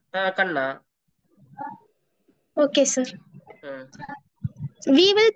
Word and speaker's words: Khanna: It is pronouncing as Khanna, sir. Khanna.